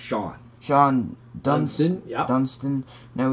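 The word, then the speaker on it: Shawon: First up, we got Shawson. It's actually Shawan. But Shawan. It's pronounced Sean.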